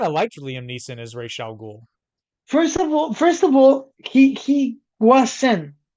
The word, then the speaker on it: Ra's al Ghul: They mispronounce Ra's al Ghul. Yeah, And I know it's not technically wrong, but Russell Gould. it is to me. It's Ra's.